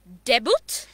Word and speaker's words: debut: But in our country, what we pronounce is sometimes debut, sometimes debut, sometimes debut. But yes, it's actually debut. Debut. Stress on ta.